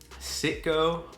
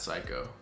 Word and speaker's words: Citgo: Citgo or Psycho, no, definitely not Psycho.